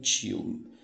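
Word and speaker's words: tío: Outra coisa também você deve lembrar é que diante de também não vai ter esse chiado, né? Tio. Se diz igual algumas regiões do Nordeste. Como se diz tio, mi tio, hermano de mi padre, tio, certo?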